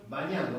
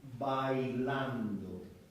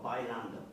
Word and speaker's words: bailando: Bañando, what is that? Dance. To dance. No, that's Vale. bailando. Or bailando. Yeah. Oh, okay. B-A-I-L-A-N-D-O. So you still pronounce the L.